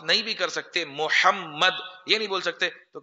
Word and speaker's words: Muhammad: Mamed. Mamad. Bai Mamed. Bai Mamad. Hum is tarah bolte. To ye sahi pronounce nahi hai. Wo Mamed nahi tha, wo tha Mahmood tha ya Muhammad tha. Aur Mamad aksar Muhammad hota hai.